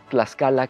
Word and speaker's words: Tlaxcala: Así, Tlaxcala, que suena como X, en realidad era Tlaxcala, pero se escribe con todo orgullo como se escribe México,